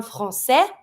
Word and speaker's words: français: So we're going to go from un français. I don't pronounce the S. Keep in mind, the only letter that you're going to pronounce is going to be the R. So if you see a masculine noun that finishes with another letter, that's not an R, always mute. Un français, I don't pronounce the S. Une Française, Z sound.